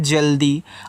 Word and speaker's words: जल्दी: अब देखो, जल्दी में जा पे आपका मात्रा नहीं है, तो जहाँ मात्रा ना हो वहाँ ए को साइलेंट कर देते हैं, वहाँ मात्रा मत लगाना, जहाँ पे ज़रूरत हो वहीं पे लगाना। तो यहाँ जे और ए से केवल जा कहना है।